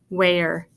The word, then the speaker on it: where: So it's not wah, wah, ear, it's where. So it's actually a long A sound.